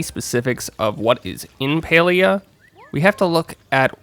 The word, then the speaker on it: Palia: a little bit about paleo pronounced like this paleo it's a newly announced mmo from singularity 6.